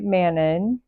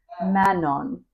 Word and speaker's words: Manon: And I kind of rely on him, but he was pronouncing it like Manon. That's very fancy sounding. Manon. And that's probably the correct way to say it, maybe. But my accent says Manon.